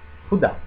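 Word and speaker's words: خدا: Khuda. Khuda. Accento sulla A. Khuda.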